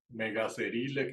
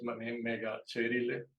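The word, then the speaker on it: Megaceryle: Megacerile, que pronunciaría uno en español, es megacherile.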